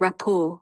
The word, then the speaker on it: rapport: Rapport. Rapport. Rapport. Rapport. The RT is silent. It's rapport.